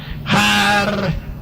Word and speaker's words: Harpócrates: Los místicos de los misterios de Eleusis pronunciaban aquel nombre en la siguiente forma: Harpócrates.